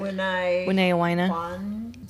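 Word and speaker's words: Wiñay Wayna: It's tough to pronounce. I think they're called Wineawanya. How do you say it? Wineawina.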